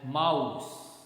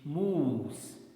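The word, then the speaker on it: mousse: next word m-o-u-s-s-e okay generally people speak this word as mouse but that's not correct the correct pronunciation is moves moves right okay then the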